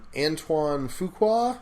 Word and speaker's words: Antoine Fuqua: One of them was about, and I feel bad, I don't know how to pronounce this guy's name, the director, Antoine Fuqua, is that right?